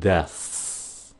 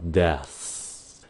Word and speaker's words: deaths: Phát âm rõ nè, deaths. Khi mà các bạn phát âm cái chữ đó, các bạn đừng có chấm dứt cái hơi phía sau mà các bạn phải chuyển thành cái âm s luôn.